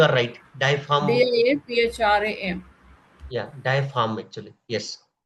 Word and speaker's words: diaphragm: Diaphragm. Yeah, diaphragm actually, yes. So even if G is there, it is silent, right ma'am, Suman ma'am?